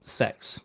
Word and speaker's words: CeX: like in the UK, we have a shop called Sex Behave. It's not what you think. It's spelled CEX.